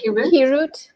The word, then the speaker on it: Hirut: Hirut.